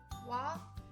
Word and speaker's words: は: It's because if you use this wa as a topic marker particle, then you have to pronounce like wa, not ha.